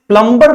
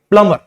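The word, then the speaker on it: plumber: प्लंबर को बुलाते हैं तो यहां पे जो बी है यहां पे भी बी क्या होता है साइलेंट होता है इसको हम प्लंबर नहीं बोलेंगे क्या बोलेंगे प्लमर प्लम अर बी is silent here two similarly वीी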